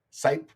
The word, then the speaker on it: Sipe: to be pronounced well not snape like some of the uh some of the people say but it's site i didn't realize